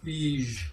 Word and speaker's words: Feige: Yeah, I was going to, I went and talked to Kevin Feige. If you didn't know, that's the real way to pronounce it.